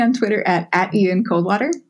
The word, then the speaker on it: Coldwater: twitter at a teen cold water which is spelled just like it sounds like cold water thank you one